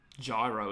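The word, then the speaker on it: Giro: Gyro, isn't it? That's how you pronounce it, Stefan Gyro.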